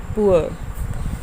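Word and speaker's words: poor: र silent है यहाँ पर, आर, पुअर। यहाँ पे आर नहीं है, पुअर, टूअर। टूर नहीं बोलना, इसे पूर नहीं बोलते हैं। तो यहाँ हमें क्लियर होता है कि ये अक्सर हम इस वर्ड को बोलते हैं हम टूर पे जा रहे हैं, टूर नहीं है, टूअर, पुअर, टूअर। आर बिल्कुल साइलेंट हो जाता है और ये सिंबल यूज़ होगा।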